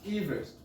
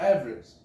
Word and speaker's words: Everest: actually no Mount Everest is actually pronounced Everest not Everest as it is named after George Everest so we've been saying